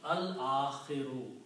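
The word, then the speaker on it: الْآخِرُ: Now if I put again al before that, the last. And this will be pronounced al-akhiru, because al changes two dhammas into one. So this will become al and akhiru. Two dhammas will change into one because of the al.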